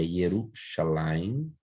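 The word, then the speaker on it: ירושלים: com uma consoante ok uma exceção interessante histórica que no texto hebraico na Bíblia Hebraica aparece esse esse mesmo com um embaixo aqui mas a pronúncia é hiero chalaine né e não se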